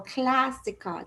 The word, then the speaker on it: clásica: So instead of going clásica, you go clásica. The A has a longer sound.